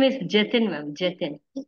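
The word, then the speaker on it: Jathin: His name is Jatin, ma'am. Jatin. Spell it for me.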